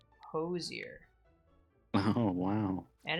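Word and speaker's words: Hozier: Posier, that's how you say it. Sounds like not a derogatory term. Kids these days are just getting hosed nearer and hosed dear.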